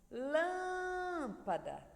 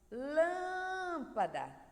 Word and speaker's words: lâmpada: Lâmpada. Lâmpada. Então, lã é a sílaba mais forte dessa palavra.